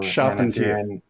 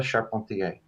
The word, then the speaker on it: Charpentier: was confusing for me so shopping yeah and if you're in canada charpentier okay but i'm a